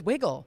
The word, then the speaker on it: Wigle: i have to say like we always said wiggle but it's actually wiggle right so it's wiggle ah uh we we got our name from